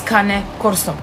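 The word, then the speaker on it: Cane Corso: many people are saying that she is not pronouncing the name of the breed right in fact she is it's kane corso uh kane means dog and corso means guardian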